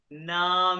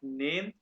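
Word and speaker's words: Name: नाम में तो ये है नॉट नेम नाम में।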